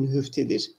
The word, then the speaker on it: nühüftedir: Melekciyim, nigahı lütfunda, nigah lütfunda nühüft gizli anlamında, nigah-ı lütfunda nühüftledir, gizlidir anlamda, nühüftledir. Zor bir kelime, telaffuzda nühüft. Ya da nühüftedir, aynı anlamda gizli demek, nühüftedir. Daha doğru bir okuyuş olur, nühüftedir.